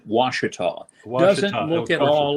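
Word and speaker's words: Ouachita: want to say oh oh a cheetah is that how you say it yeah it looks like it's an indian name but it's pronounced washita doesn't look at all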